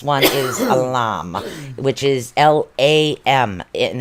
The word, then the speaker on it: Lam: And I think the seed sound for this one is Lam, which is L-A-M, and it's actually pronounced Lam is what it is.